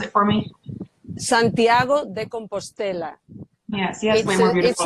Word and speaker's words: Santiago de Compostela: Can you just pronounce it for me? Santiago de Compostela.